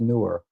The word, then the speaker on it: Neewer: It's spelled Neewer, but it's pronounced newer.